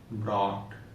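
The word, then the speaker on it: brought: तो अब हमको पता है कि जब वर्ड में बीच में अगर जीएस दिखाई दे तो हमको उसको नहीं पढ़ना है।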